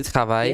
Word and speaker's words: travailles: Final S that you don't hear. Tu travailles.